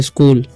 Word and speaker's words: school: देखिए यहाँ पर CH का उच्चारण क हो जाएगा, और डबल ओ का दीर्घ एल से ल, तो स्कूल, ऐसे पढ़ते हैं, ठीक है।